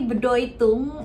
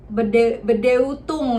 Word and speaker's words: Bedeutung: Nah, cara aku menghafal kosakata ini, jadi kan kita tahu ya, kita udah belajar di pertemuan pertama ini EU itu dibacanya OI ya kan.